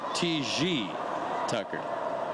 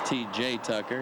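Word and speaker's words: T. J. Tucker: Tucker now in French he would pronounce it TG Tucker didn't think I knew that but I did and there you look at the numbers this year of course in English it's TJ Tucker and any language opponents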